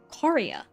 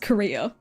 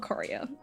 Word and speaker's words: chorea: Chorea outbreaks in Europe. I had to look up how to say this because I thought it was pronounced Korea. It is not Korea.